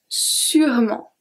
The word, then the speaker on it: sûrement: Je serai sûrement, sûrement. So here, the only thing is that don't forget that we do not pronounce the E in the middle. That's very important.